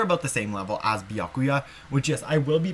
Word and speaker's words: Byakuya: i think they're about the same level as biakuya which is i will be pronouncing his name as biakuya as pekopekoyama's english voice actress is actually half